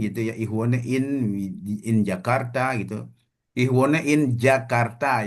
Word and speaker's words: Jakarta: Karena sepanjang yang saya tahu gitu ya, penulisan huruf J itu ya yang ada hubungannya dengan kota yang ada di Indonesia, ya kita sebut seperti yang ada pengucapan Indonesianya gitu ya. Misalnya ich wohne in Jakarta ya kita pakai J gitu, Jakarta.